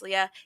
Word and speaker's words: Leah: Because it's technically supposed to be pronounced Leah.